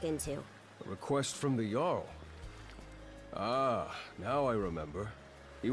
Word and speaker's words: Jarl: Okay, you pronounce this Jarl.